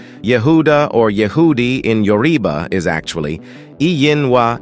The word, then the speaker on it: Yehudi: While Jew, pronounced as Yehudi, are Yod, He, Waw, Dalet, and Yod.